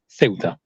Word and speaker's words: Ceuta: the other Spanish enclave, so Ceuta, that's the pronunciation, and the other Spanish enclave called Melilla are vulnerable ponds.